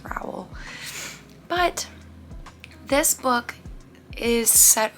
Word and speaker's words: Rowell: Eleanor and Park by Rainbow Rowell. I believe is how you pronounce their last name. I'm pretty sure it's Rowell.